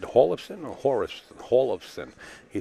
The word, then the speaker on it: Hjorleifson: Erik says kind of hard to pronounce, but Hjorleifson, I said Hjorleifson or Hjorleifson?